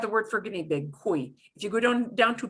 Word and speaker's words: cuy: But they're all be E sounds because they're hanging off the end of the word. So I'm going to do them one more time. I, oi, muy, cuy.